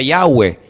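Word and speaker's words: Yahweh: yod he Bad hei verdad ese nombre se pronuncia yahwe Ese es el nombre que aparece en el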